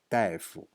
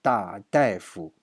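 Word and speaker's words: 大夫: And 同事说大夫怎么说的？This is not 大 anymore. This is 大夫。 This thing has two pronunciation. A is 大 means big, and here 大夫 it means a doctor.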